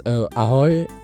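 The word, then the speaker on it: ahoj: Uh is it pronounced aoy? Uh that means hello as per my understanding. Can maybe can you teach? Yeah. Yeah. Yeah. It's aoy.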